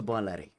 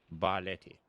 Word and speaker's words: Barletti: Bleti. Balleti. Mhm. Oh, right. Okay. Just had to clarify. I do don't want to mispronounce things.